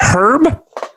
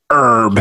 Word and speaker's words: herb: is it for you is it a herb or is it herb herb the H is silent yeah not to our